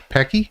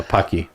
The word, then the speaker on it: Pocky: How do you pronounce it? Pecky? Yeah, Pocky.